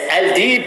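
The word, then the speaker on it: Aldeeb: Comment se prononce votre nom? Alors, Al-Dib ou Al-Dib, ça veut dire les loups.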